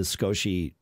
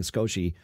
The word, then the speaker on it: Skosh: the car the the skoshi sorry i i don't know why i started saying skoshy for years i've said scotch and that's the way it's pronounced the the skosh magsafe